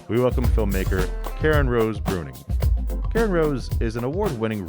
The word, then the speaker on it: Bruyning: festival in january of 2020 karen rose founded pronounced bruning a solo production company which debuted with ship